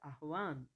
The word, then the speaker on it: आह्वान: आवाहन, आवाहन आह्वान होता है, सही क्या होता है आह्वान, है हलंत होता है, आधा है होता है मतलब, तो आह्वान।